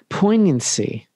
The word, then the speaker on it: poignancy: emphasize is the unbelievable poignancy i didn't pronounce the g this time because you told me not to unbelievable of of this